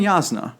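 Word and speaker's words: Jasnah: who I always pronounced jazna because it's a j if it was going to be a y if you're gonna pronounce it with a y spell it with a Y anyway that's just me so that was my number 12.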